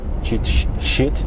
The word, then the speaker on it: cheat: I only have to take care when I pronounce such the words in English. Cheat, not shit. Cheat sheet.